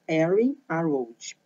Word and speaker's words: Arianrhod: Aqui está escrito separadamente, como vocês estão vendo aí na imagem, mas o nome dela não é separado, tá? É junto. A pronúncia seria Erin Arroud, ok?